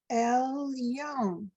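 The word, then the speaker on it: עֶלְיוֹן: So remember when we have the little yud and it's not helping a vowel before it, you have to pronounce it like the Y.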